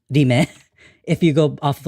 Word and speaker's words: RIM: Even though it's stylized as like rim, it's pronounced Rime.